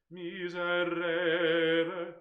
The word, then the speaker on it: Miserere: The other thing is that the stress is on the third syllable, and I think Beethoven also puts it there. Yeah. And actually, some of us who've had the pleasure of working with the Monteverdi choir will know that the conductor of that group has two different vowels in Latin for re and re. Miserere, like that.